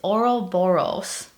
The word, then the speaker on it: Ouroboros: It's Ouroboros.